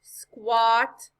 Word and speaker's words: squat: the a that's right when the letter a comes after the letter w or the letters q u it often makes a sound similar to the short o it makes the off